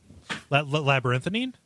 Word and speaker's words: labyrinthine: Well, no, how you pronounce it? Labyrinthine.